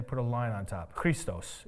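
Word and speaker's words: Χριστός: Christos is how you say it in Greek.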